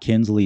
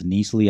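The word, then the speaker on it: Knisley: It's actually not Kinsley, it's Neasley. I've been mispronouncing her name.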